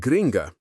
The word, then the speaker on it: gringa: Finally, we can't talk about a tourist's experience with Brazilian slang without mentioning gringo or gringa, pronounced gringo and gringa.